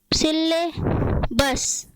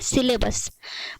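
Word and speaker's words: syllabus: problem शरीर words है जिसको हम हमेशा ग़लत उच्चारण करते हैं क्या बोलते हैं सिर्फ सिले बस सिलेबस क्या बोलते हैं सिलेबस पर इसका सही पेंशन क्या है सिल्वर सिर्फ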